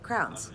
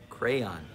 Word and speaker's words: crayon: kid you play with crowns crowns crowns this is a crayon crayon two syllables okay this is an orange crayon craye is how you say it this is an